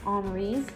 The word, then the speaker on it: Henri: today in this book omri's scissors or henry scissors depending upon how you like to say it and after that we're